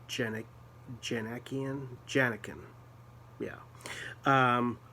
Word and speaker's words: Djanikian: a guy named gregory janniken i think that's how it's pronounced jenna janekian yeah um with a d and a j at the beginning the d is silent which is cool because